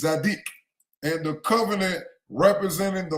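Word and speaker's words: tzadik: But this is how they pronounce it in the Hebrew. Instead of saying Zodok, it's Zadic.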